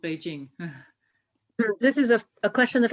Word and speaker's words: Beijing: The city that we know as Beijing or Peking has always in the northern Chinese dialect been known as Beijing. That's how it's pronounced.